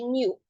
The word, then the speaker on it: know: You don't pronounce the K. Just say new.